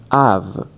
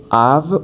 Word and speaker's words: of: This word in American English is pronounced av. In British, it can be both av or of, because in British the vowels are more closed, are less open or broader than the American accent.